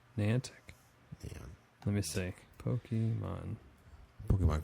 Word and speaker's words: Niantic: actually uh what is it n how youed pronounce this I think it's n Niantic Niantic let me see Pokemon Pokemon Creators they wrote